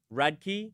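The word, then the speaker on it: Radke: How do you pronounce it? Radkkey. Radkkey.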